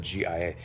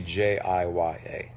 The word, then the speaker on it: Jiya: Someone just said Gia. It's actually Jiya.